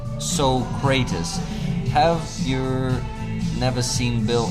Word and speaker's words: Socrates: Yes, Socrates was Plato's student and it's pronounced Socrates.